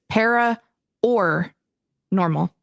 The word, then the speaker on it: Para OR Normal: It is parah or normal, not par.